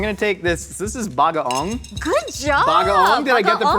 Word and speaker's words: bagoong: This is bagaong. Good job. Bagaong? Did I get the pronunciation? Yeah, bagaong, Heck yeah. not bagoong. Not It's bagoong.